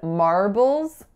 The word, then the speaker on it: marbles: And then in marbles, it's 2 syllables. That first syllable is a complex R vowel, R. And then the second syllable has a schwa, bulls. So it's B, schwa, L, Z.